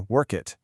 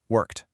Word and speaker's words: worked: And for past tense words like worked, you might hear work it. But the correct way is just a crisp T sound at the end, worked.